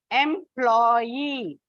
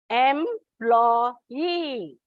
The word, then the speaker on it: employee: Now take, for example, the first one, employee. On the last syllable, when you say, you don't put before EE, employee. It comes here, before Y.